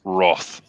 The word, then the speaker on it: wrath: Will Gentry says, can't believe you pronounced Wrath wrong. It's pronounced Roth. The Roth of Khan.